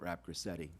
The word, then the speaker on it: Rapgrassetti: The corollary to that, though, is Vice President Rapgrassetti, rhymes with spaghetti, used the word livelihood for those folks.